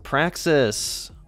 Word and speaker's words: praxis: subject like I said rhymes with Texas it is Praxis maybe you've heard of